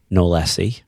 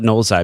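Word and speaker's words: knowlesi: It's not going to be Nolesi, right? Knowles-eye. It won't be Knowles-eye. Won't be Knowles-eye. Let's call it Knowles-eye because the guy's name was John Knowles, so we'll actually pronounce his name correctly.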